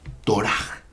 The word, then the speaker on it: Torah: Ya que, bueno, en el hebreo el acento recae siempre en la última sílaba. Puede decirse Torah. No es Torah, es Torah.